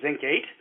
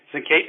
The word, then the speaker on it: zincate: We feel very strongly that given the stability of what's called our Zinc 8, Zinc 8 is spelled ZINCATE, and that's what we use to hold the charge.